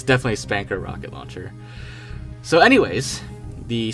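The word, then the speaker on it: SPNKr: the rocket launcher, and even more specifically, the Spanker rocket launcher, which is the correct way to pronounce the name. I've heard some silly pronunciations of Spanker out there. I think someone said like Spunker before, but it's definitely Spanker rocket launcher.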